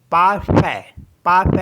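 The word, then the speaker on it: parfait: तो ये हो गया पाफ पाफ मीस होता है परफेक्ट तो जहां पे ए आई होगा उसको पढ़ते हैं ए एस ई आई के लिए भी हम बोलेंगे ए जैसे पी ई आई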